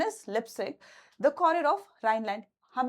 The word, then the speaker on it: Leipzig: Its pronunciation is Leipzig.